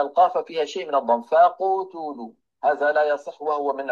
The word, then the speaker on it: فقتلوا: نأخذ مثال واحد، يعني ما يقول الواحد منا فقتلوا، انظروا إلى فمي، فقتلوا. Bukan faqutulu.